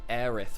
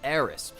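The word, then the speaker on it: Aerith: This also applied quite famously to Aith from Final Fantasy, also known as Aerys.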